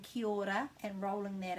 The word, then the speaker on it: kia ora: what they're doing is they're missing out this a you can't miss out any letters in te reo maori there are no silent letters so it's either kia ora or it's kiyada and kyoda is just joining those two middle vowels together and that's what you'll